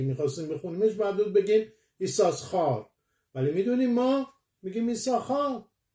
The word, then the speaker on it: יששכר: و در تنخوما میگه میدراش که ایساخار یعنی یش ساخار، یوتسین ساخار، بنابراین دو تا شین میاد. پس اگه دو تا شین میاد چرا یکیش رو تلفظ نمی کنیم؟